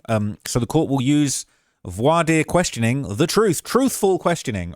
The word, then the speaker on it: voir dire: Said also to offset prejudice, the court will use a voir dire. Let me make sure I'm saying that right. Pronounce voir dire.